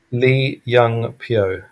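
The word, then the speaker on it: Lee Young-pyo: Lee Young Pio. Pio is P Y O.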